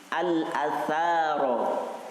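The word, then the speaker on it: الأثر: Ketahuilah anna sesungguhnya al-atharo, ya, usahakan, upayakan walaupun yang kita baca bukan Al-Quran, tapi makhrajnya disesuaikan. Ya, al-atha, sa, lidahnya digigit.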